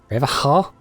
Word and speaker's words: Revacol: Revacol? It's not pronounced like alcohol, it's like shawl, isn't it?